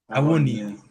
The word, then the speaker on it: Awoniyi: Awoniyi. Yeah. There we go. What a We're going joke. with Awoniyi.